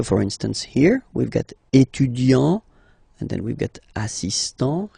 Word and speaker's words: étudiant: Okay, so it will of course change a little bit the pronunciation, because you will pronounce it at the masculine form. Il est étudiant.